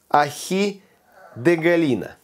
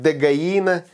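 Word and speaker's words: Ají de gallina: Сегодня перуанское блюдо, которое называется ахи де галина. Но пишется оно как де галина, читается как де гаина. Испанцы проглатывают вот эти двойные L.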